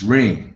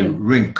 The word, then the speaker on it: ring: It's ring. You don't say rink. You say ring. Ring. The G is silent.